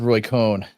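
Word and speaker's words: Cohn: Oh, someone doesn't like uh it's it's spelled Roy Cone. C H N. That's not Cohen like the Cohen brothers.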